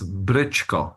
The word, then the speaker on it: Bryćko: It's good to be with you, and you can pronounce my last name as Brycko. So think of Bryćko. a Brit and then add co.